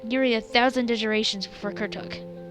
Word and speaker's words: Kuruk: a thousand Generations before kuruk Kur I don't know why I keep calling him kuk it sounds like his it sounds like the r is silent in the center and one that would